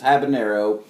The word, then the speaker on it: habanero: some people say habanero but if you look the spelling it doesn't have the little wavy things so it's an in its habanero and how a peen